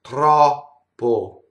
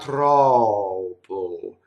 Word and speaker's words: troppo: In Italian, it's troppo. You see? It's not troppo, as we would do in English.